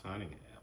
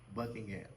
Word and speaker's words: Buckingham: Wait, I just pronounced my name wrong, sir. What? What? What up? Buckingham. I said I said Cunningham.